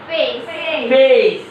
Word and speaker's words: face: ওকে, ফেস উচ্চারণ কি হবে তাহলে? ফেস।